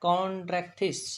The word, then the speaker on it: Chondrichthyes: ये बोला जाता है कॉन्ड्रेक्थिस, CHONDRICHTHYES, ये वर्ड है कॉन्ड्रेक्थिस।